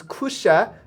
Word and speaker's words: Kusha: It is Kusha, just for the pronunciation that difficulties that some people are having in chat.